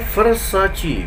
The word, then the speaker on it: Versace: fase-fase Kemudian untuk verses proses ya ganti baterai Versace Versace Versace King I make Riska lagi bukan